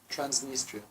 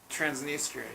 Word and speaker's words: Transnistria: it's like are you talking about transnistria yes transnistria transnistria yeah so they have different centers in different